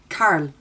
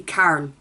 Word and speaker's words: Carl: Everyone says that I say his name weird. Carl. Where I'm from it would just be Carl. But that sounds like Carol apparently.